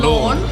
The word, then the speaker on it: Lorne: Lawn. Like the mowing grass. lawn. Okay. Yeah, it's spelled slightly differently.